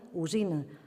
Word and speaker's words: alzina: És el cas de la L, que davant F, Z, B i V passa a pronunciar-se U. Així d'una alfàbia en deim ufabi, d'una alzina, usina, d'una albergínia, ubergini i de salvatge, suvatge.